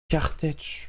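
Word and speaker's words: Kertész: Ça s'écrit K-E-R-T-E accent aigu S. Kartech.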